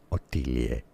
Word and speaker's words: Ottilie: the channel for reference in German, since it's a word or name of German origin. It is said as Ottilie.